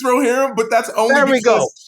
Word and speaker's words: Rohirrim: of the Rings animated movie that I can't pronounce. Lord of the Rerum?